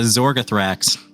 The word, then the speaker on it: Zorgothrax: there with that remember it's a zorgothrax it rhymes with anthrax well exam producers keep